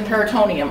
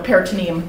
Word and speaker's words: peritoneum: Yeah, it's behind the peritoneum, or peritoneum, depending, tomato, tomato, how you pronounce it.